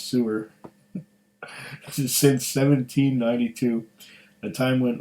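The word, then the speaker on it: Suir: the banks of the river sewer sewer s-u-i-r but I guess it's pronounced sewer since 1792 a time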